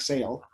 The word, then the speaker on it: Sale: introduce because of the the author's name rhymes with the title human scale by kpatrick sale yes so that's one